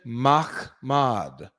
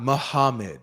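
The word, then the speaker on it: מחמד: Transliteration: Mahmad. Mahmad. That's how to say it. It's not Muhammad. It doesn't have the correct vowels or anything like that for it to even give that sound. It's Mahmad.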